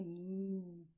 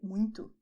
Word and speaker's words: muito: And you see that there is a kind of vibration in this area when you say "MUITO", all right? And the air goes up to your nose, which is why the sound is nasal. You don't have to make it so strong, you can say "MUITO", quickly, but so you can understand think about a cow and do as cows do, all right?